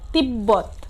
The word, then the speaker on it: তিব্বত: কি থাকে বজায় থাকে, যেমন তিব্বত। এখানে শব্দের মাঝখানে বয়ের সাথে কি হয়েছে বয়ের সাথে ব সংযুক্ত, এর জন্য এর উচ্চারণ কি আছে ঠিক আছে।